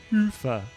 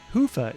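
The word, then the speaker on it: Hyvä: to Commerce is sponsored by hia or as the Europeans say hoofa or the right way to say it hufa is rapidly becoming the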